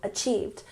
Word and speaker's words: achieved: Emphasize the second syllable, achieved.